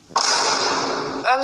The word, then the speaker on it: homme: Homme, ça s'écrit avec un H mais qui ne se prononce même pas.